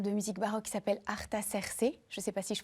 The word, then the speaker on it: Artaserse: Vous êtes le fondateur d'un ensemble de musique bar qui s'appelle Cerc. Je sais pas si je prononce bien.